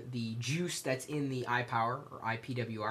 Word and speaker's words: IPWR: I'm not exactly sure how they want me to say it, but I'm going to say iPower, because it's pretty much what it is, although it's spelled IPWR.